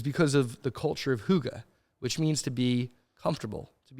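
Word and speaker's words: hygge: which is really spelled hy gge, and it's pronounced huga.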